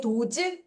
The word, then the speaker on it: does: Does즈? 그렇죠? 그런데 약간 입술을 요렇게 사각 모양으로 열면서 발음할게요. those do더스 아니에요. does. 자, 어, 물어보는 문장을 만들 때 쓰이거나 하다라는 뜻이래요.